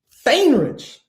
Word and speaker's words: Faehnrich: but none other than feinrich is that right you nailed it man you know all